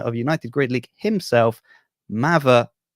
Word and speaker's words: Mather: welcome the commissioner of United grid League himself mava wiswell great pronunciation you know what happened I thought so